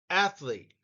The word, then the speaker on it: athlete: improves first word athlete athlete and notice the emphasis is on the first syllable next word coach Championship